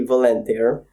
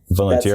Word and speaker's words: Volentir: Valent's the Romanian way of saying it. And then there's how I say it to English people. So if I'm in England, I would say my name is Valente.